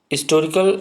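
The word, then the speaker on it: historical: अब यहाँ पे देखिए एन होटल, अब यहाँ पे मोर कॉमन अ होटल, तो एन हिस्टोरिकल नावल, हिस्टोरिकल, अब यहाँ पे एच जो है ये साइलेंट है, हिस्टोरिकल नावल, हिस्टोरिकल नावल, तो एच यहाँ पे ई देखिए क्या है, आपका वॉवेल साउंड है।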